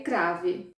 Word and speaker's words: Crave: identifico tanto que não consigo falar como série crave e trago para vocês aqui a pronúncia como crave mesmo e antes de eu